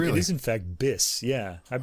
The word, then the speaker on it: BIS: records and he actually asked him how to pronounce the label name it is in fact bis yeah I've been saying be all these years CU that's I